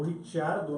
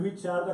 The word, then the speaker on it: Ricciardo: Pois é, o Ricciardo, né? E foi Ele fala demais. Ricardo, mas eu prefiro a pronúncia italiana, até porque eu acho que ano que vem ele vai estar na Ferrari, viu?